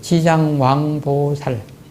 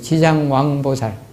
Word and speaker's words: 지장왕보살: 왕부사 이런 말이 나와요 그게 바로 우리 발음으로는 지장왕보살 다시 해보죠 지장왕보살 지장왕보살 그래서 교각 스님